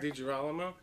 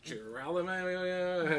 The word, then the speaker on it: DiGiralmo: I'm DiGiralmo. Gary always gets my name wrong, so... I do. I can't pronounce anything. DiGiralmo. DiGiralmo. There you go. DiGiralmo. Last time it was Giralamo.